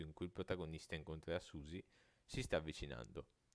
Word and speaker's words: Suzy: sua vicina di casa Susi personaggio Mai visto nel gioco e che guarda caso si pronuncia uguale a Susi protagonista di deltaron Tuttavia dopo aver battuto